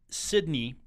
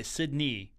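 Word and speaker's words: Sydnei: And I believe it's Sydney. It's spelled S-Y-D-N-E-I, Sydney McCaskill.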